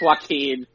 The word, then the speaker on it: Joaquin: jacqueline thinks that's correct that's that's the correct pronunciation john quinn you're such a dick it's joaquin but what it was was that i read